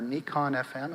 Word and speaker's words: Nikon: quickly upgraded to a nikon fm or nikon fm as it's properly pronounced i've been a nikon